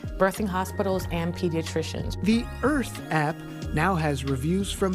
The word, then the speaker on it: Irth: The app is called Earth, which is spelled like the word birth, but we dropped the B for bias, so it's IRTH.